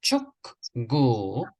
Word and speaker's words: 축구: 촌고 K sound at the end when you see this 받침. 축구.